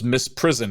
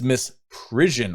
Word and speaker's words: misprision: And then count 2, misprision and I almost thought it was misprison. And in fact, I think on my YouTube short, I mispronounced it. It's misprision.